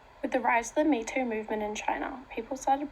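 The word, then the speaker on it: 米兔: Rice bunny which is derived from the Chinese words for rice and rabbit which is pronounced me too a feminist activist commented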